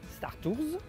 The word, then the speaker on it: Star Tours: À l'américaine, en prononçant le S, Star Tours, ou à la française, sans le S, Star Tour. Il n'y a pas de bonne ou mauvaise prononciation, c'est vous qui décidez.